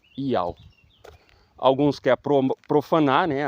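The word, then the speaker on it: Ιαώ: Para cumprir as profecias de Daniel no pergaminho 4Q 120 de Levítico a pronúncia do tetragrama em grego era Iao.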